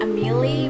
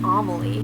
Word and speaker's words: Amelie: vampire name is Amelie I always pronounce it Amelie but i think i believe it's pronounced Amelie she has this very